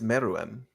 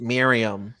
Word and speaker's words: Meruem: I think it's Meruem. Meadowem? Oh yeah, you used the accent just now, so I'm cooked. I could easily be wrong, but I just don't think it's Miriam.